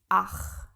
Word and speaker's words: ach: So, for example, we have ACH. This is pronounced ach.